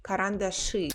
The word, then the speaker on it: карандаши: Or шина we write with e but pronounced with y. Same with карандаши.